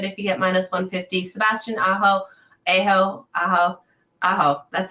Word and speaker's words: Sebastian Aho: Sebastian Aho.